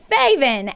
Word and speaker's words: Faevyn: me saying sure uh so my name is faven or faye and my pronouns are he they it's easy to remember because it rhymes i love that um so how are